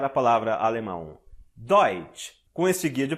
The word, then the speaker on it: Deutsch: Veja só como ficou mais fácil pronunciar a palavra alemão. Deutsch.